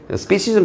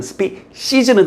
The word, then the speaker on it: species: species는 나올 때마다 얘기하지만 species는 틀린 발음, species.